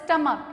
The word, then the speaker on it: stomach: see what is that if the ch at the end of the noun is pronounced with a k sound and as an s is in the end to change the form from singular to plural what you have to do my word is stomach you can see at